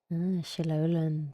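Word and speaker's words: Xilonen: crafting an ancient name sholan that's how you say it correct the situation isn't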